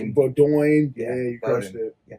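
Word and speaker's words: Bowdoin: Did you crush the pronunciation too? We got a lot of Boduin. Bodin. Bodin.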